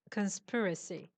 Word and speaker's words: conspiracy: yes the pronunciation is conspiracy too, but I was wrong. It's just conspiracy. Because the verb is Conspiracy. conspire, but the pronunciation of the noun Yeah. is conspiracy. So I said both, but it's not both. Only conspiracy is the correct pronunciation.